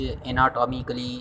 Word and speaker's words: anatomy: Terms and definition of एनाटॉमी and physiology. सबसे पहले हम स्टार्ट करते हैं व्हाट इज़ एनाटमी, ठीक है ना। ये जो प्रोनाउंसिएशन है इसको हम एनाटमी कहते हैं, ठीक है ना, एनाटॉमी नहीं, एनाटमी।